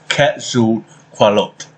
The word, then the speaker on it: Quetzalcoatl: Okay, so this word here is quite hard to pronounce. Quetzalcoatl.